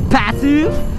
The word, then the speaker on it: Phatsuwo: Kung tatanungin nyo po ako kung paano yan ipopronounce, you can call me Patu or you can call me Patuo for the views.